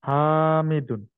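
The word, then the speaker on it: حامدٌ: একটু উচ্চারণটাকে শুদ্ধ করে নেই, হাতে টান হবে, হ্যাঁ, বলেন হামিদুন। হামিদুন।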